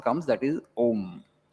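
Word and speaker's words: ॐ: Auma, Auma, Auma, Auma. If you do it fast, it becomes Om.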